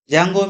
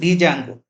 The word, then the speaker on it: Django: Django means Django. There D is silent.